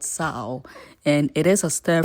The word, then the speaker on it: Tso: So it is spelled tso. So the guy in me will certainly say cho. You know what I mean? Yeah. But the Chinese man will call it sao.